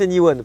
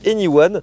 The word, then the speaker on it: e:Ny1: véhicule Honda anyone déjà ça se prononce anyone parce que c'est vrai que lorsqu'on le voit on se dirait e de point N majuscule y et 1 ça na aucun sens